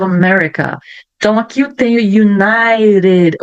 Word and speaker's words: United: A letra T virou um R. Ó, United. Quando antes eu tenho uma vogal e depois eu tenho uma vogal. Isso quando está no meio de uma palavra. Então, vai ficar R.